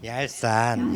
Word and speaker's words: ялсан: 얄산. 예. 이게 아주 정확한 발음입니다.